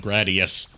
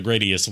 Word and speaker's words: Gradius: around Konami's like shoot 'em up franchises like Gradius. Which I just recently learned is not pronounced Gradius, it's pronounced Gradius.